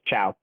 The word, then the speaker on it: Qiao: a friend in high school whose last name was spelled Qiao, and that was Chow.